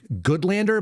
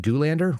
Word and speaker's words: Goodlander: Her name is Maggie Goodlander, but I think she pronounced it Goolander, which is funny.